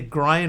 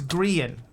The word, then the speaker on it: Grian: But is it pronounced Grian like Brian, or Grian like Ian?